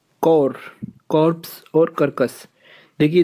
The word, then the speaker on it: corps: देखिए जो ये फर्स्ट वाला CORPS है, इसका प्रोनाउंसिएशन होता है कॉर, और इसको बोलते हैं सेना की टुकड़ी, A division of army, group of army person. कॉर, नॉट कॉर्प्स।